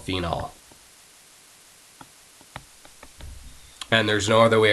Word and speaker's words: phenol: It's just going to be phenol, Phenol. All right, so even when you're saying that name, really try to pronounce that OL so you don't get confused with phenol, Phenyl.